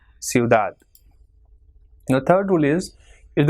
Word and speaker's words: ciudad: Same way, ciudad. It has got 2 syllables, ciudad. So as it is not ending in any vowel or N and S, so the last syllable is stressed. So it will be ciudad.